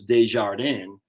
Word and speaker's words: Desjardins: this guy right here Thomas Desjardins that's how you say it Desjardin and uh before Benedict